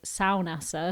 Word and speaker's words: Saunassa: Saunassa, I should say Saunassa, apparently that's how you pronounce it.